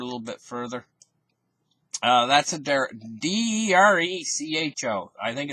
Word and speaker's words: derecho: Midwest and everything, these derechos.